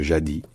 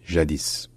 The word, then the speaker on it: jadis: qui nous dit que le S n'est pas prononcé et qu'on dit juste jadis mais de l'autre côté